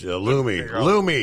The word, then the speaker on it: Lume: Lume. Loom. That's how it's technically pronounced.